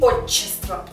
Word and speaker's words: отчество: почас почас почас почас и отчество отчество то есть долгое щч И помимо этих сочетаний